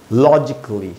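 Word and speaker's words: logically: पहला है लॉजिकली, लॉजिकली, इसको लॉजिकली नहीं बोलना है। तो इस प्रकार के वर्ड्स जो ए डबल एल वाई से ख़त्म होते हैं उनमें ए साइलेंट होगा, तो इसको पढ़ेंगे दोस्तों लॉजिकली, यहाँ लिखा मैंने, बेसिकली,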